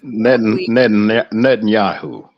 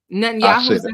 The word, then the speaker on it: Netanyahu: minister Benjamin I don't know if I can pronounce this I guess it's Natan Yahoo of Israel net Netanyahu Netanyahu I said it yeah I said it for